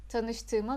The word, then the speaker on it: Tanıştığıma: You remember that rule for reading soft G. Just read like as if it is not there. For details you can check this video here. Tanıştığıma memnun oldum.